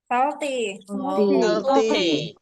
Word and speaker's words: salty: Salty would be better. Teman-teman bacanya it's not salty. Tapi a dibaca suara O.